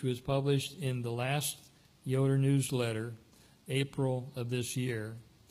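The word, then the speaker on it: Ioder: Yoder, as it's pronounced, I-O-D-E-R is pronounced Yoder, which I learned just a few days ago, and another Jacob Yoder who came to Illinois in 1866.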